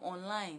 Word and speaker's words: online: online online you are speaking your uber i'm online it's just like they move online it is